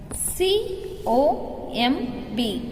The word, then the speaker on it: comb: C-O-M-B, comb. B is silent.